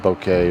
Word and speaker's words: bokeh: blurred you got that good bouquet or bokeh have you want to pronounce it that's another word that